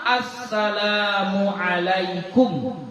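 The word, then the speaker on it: السلام عليكم: sampaiam inakajanut sekurang-kurang Salam Assalamualaikum itu sependek-pendek salam ya tasdid tasdidus salam Al dengan mentasdidkan kata salam pada huruf sinnya jadi dibaca Assalamualaikum itu paling pendeknya paling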